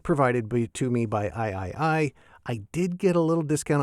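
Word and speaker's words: AIAIAI: And it's pronounced I I I not AI AI AI. I know that because I asked the manufacturer.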